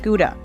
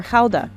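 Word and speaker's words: Gouda: a year more than half of it is guda or Hala as it's pronounced here Fran ctin is a seven generation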